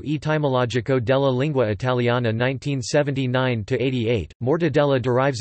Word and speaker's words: mortadella: Mortadella, Italian pronunciation, mortadella, is a large Italian